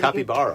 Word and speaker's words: capybara: How do you say it? Capybara. Again? Capybara. It's got a P in it.